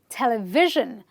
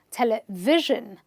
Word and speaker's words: television: Okay, our next word ends with the SION, and we again stress the syllable before the suffix. A lot of people pronounce this incorrectly, but you will say it as television, television.